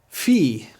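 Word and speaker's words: φι: say it with me iepsilon e ion e Fe it's pronounced like our pH or F now say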